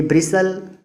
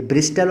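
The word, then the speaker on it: bristle: ये ब्रिसल और बसल है, ये ब्रिस्टल और बस्टल नहीं है।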